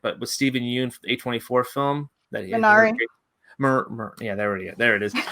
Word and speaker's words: Minari: Yeah, Mirai with, I think it's how you say it, but with Stephen Yeun, A24 film that Minari.